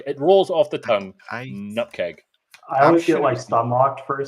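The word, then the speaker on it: nupkg: so the next question is how do you pronounce nkg new package oh whatever package um is that is that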